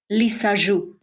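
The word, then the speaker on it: Lissajous: a lisu figure okay it's a French name a French scientist he found out a way to visualize a soundwave so the figure is named after him lisu okay got it that's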